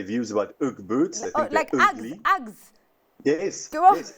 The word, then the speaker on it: Uggs: about ug boots I Uggs yes yes Uggs or the Australians say ugs okay because it's and the British also because it's like ugly it's ug so yes so o boots